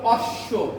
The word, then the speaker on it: অশ্ব: যেমন আমরা বলি অশ্ব, অশ্ব, শাশ্বত। শাশ্বত। যদি শব্দের মাঝখানে বা শেষে বফলা আসে তাহলে ওই বফলার উচ্চারণ কি হবে? দ্বিত্ব হবে।